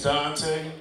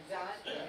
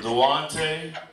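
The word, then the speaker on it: Duante: So, my name's Dante. Dante. Yeah, it's spelled all up, though. Yeah, it's D U A N T E. So, I get everything from Dwante to Dwand. Even get Dwayne once in a while, like the T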